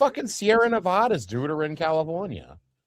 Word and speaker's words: Sierra Nevada: The Sierra Neadas. The Sierra. No, I And I said it right. The Sierra Nevada.